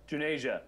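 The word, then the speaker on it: Juneja: The digital health futurist Manish Junja, is that how you say it? Junasia.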